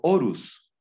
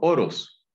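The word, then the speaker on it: ὄρος: dice que ellos fueron eo orus eo oros Perdón he pronunciado mal antes heo oros oros con genitivo orus es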